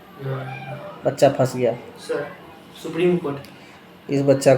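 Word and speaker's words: Kshipra: हैं क्या पढ़ते है सिपरा बहुत जगह लिखा रता है हा सिपरा के साइलेंट है के एस एच के एस आई एच पी आर ए इसको किस परा नहीं सिप पते ठीक है वाराणसी गंगा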